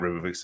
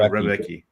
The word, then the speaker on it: Rebecki: 39 years old, and Rebovic's or whatever, not Rebovic's. How do you say this guy's name? Rebecki.